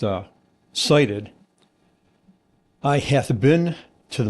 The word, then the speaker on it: SIDIT: So si t pronounced uh cited I hath been to the mountaintop and I hath cited the promised land.